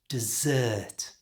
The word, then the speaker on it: dessert: category put all of the stress at the end of the word dessert and for the Big